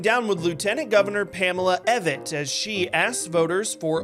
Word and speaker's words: Evette: How do you pronounce your last name? Everett. There you go. Evet.